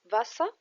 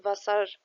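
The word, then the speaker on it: Wasser: فاسا فاسا يعني ميه في ناس بتنطقه فاسا ففي الاخر لما بيجي حرف الاغ مش بننطقه وده في الغالب وفي ناس ثانيه بتقول لا ننطقه فبتقول فاسار فاسر وبتسمعوها كده مش هنقول مين صح ومين غلط هنقول ان هو فيه نطقين عشان هتسمعوا الاثنين وبس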